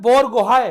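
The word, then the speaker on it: Borgohain: लवलीना बोरगोहाइन बोलते हैं। अब मेरे को बेटा नाम में हो सकता है प्रोनाउंसिएशन में गलती हो रही हो। क्या बोलते हैं? बोरगोहाई।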